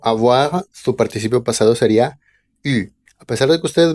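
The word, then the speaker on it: eu: su participio pasado sería u a pesar de que ustedes vean ahí una e y una u se va a pronunciar u como si fuera nada más una u y Bueno finalmente el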